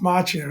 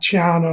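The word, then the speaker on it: Macchio: I was like second now you you pronounced that beautifully you know Ralph vako very very well said a lot of a m would say aano or something like that but uh um yeah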